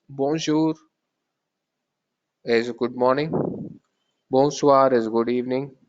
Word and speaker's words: bonjour: It's if you split that into two words, that it's bon and not bon because you're not pronouncing the N. It's bon and jour. It's bonjour.